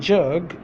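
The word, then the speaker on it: جگ: Now I'm going to pronounce in Urdu with alphabets. Jim, Gaf. Jim, Gaf. Jim, Gaf. Jug. Jug, jug, Jim Gaf, jug, Jim Gaf, jug. So this word is jug, jug. Okay.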